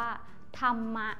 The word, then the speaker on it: ธรรมะ: คำ นี้ นะ คะ ให้ อ่าน ว่า ธรรมะ ค่ะ ก็ คือ อ่าน ออก เสียง เหมือน มี หม่อม มา เป็น ตัว สะกด ด้วย นั่น เอง ซึ่ง